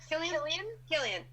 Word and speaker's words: Cillian: Cillian.